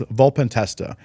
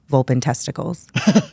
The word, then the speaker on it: Volpentesta: her last name is volpentesta and it's written out uh intimidating it's a it's a long last name but it's it's spelled exactly how it sounds or sorry it sounds exactly how it's spelled but we're talking off